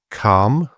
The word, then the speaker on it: calm: And so some examples of silent L: calm, talk, half, mentioned previous, could, would, could, should, folk, and yoke.